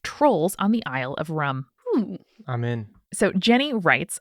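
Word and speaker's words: Rùm: helpfully included pronunciation and it is pronounced like rum all right tight there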